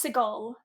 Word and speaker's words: Seagal: No, it's Seagal. It's not Seagal.